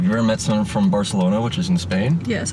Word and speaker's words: Barcelona: Yeah, have you ever met someone from Barcelona, which is in Spain? Yes, I've been to Barcelona. Do you notice how they pronounce their C's? It's like THs. Like Barcelona.